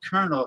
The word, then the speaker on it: colonel: explain it why did it why do they pronounce it kernel if it's colonel uh he'll be back here